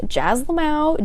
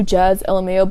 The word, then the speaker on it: Jazlmao: It's Jazz Lamau, Jazlmao. People just say like, oh, Jazz LMAO, but it's pronounced Jazz Lamau, like a Lamau.